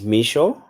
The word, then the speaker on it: Mixo: since morning no worries um my name is micho there is no there is no on it